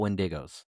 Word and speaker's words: Wendigo: What do you know about Wendigos?